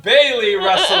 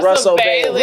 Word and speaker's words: Russell Bailey: and Isaiah Bailey-Russell. Did I say it right? Russell Bailey.